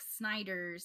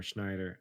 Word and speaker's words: Snyder: Zack Snyder's I do too.